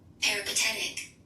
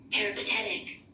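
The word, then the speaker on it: peripatetic: it for me please paretic no spell it spell it P e r i p a t e t i c Okay cool so how you said it sounded like it had an H that's what I was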